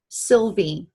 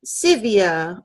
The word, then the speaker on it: Sylvie: me a French name Sylvie but we lived in Charlotte North Carolina and people would call me Sevilla or sale and nobody could spell